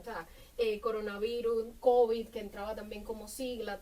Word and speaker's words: COVID: COVID, el COVID, porque COVID, o sea, sí, la sí. pronunciación cambia, sobre todo en el español caribeño, se acentúa como palabra aguda.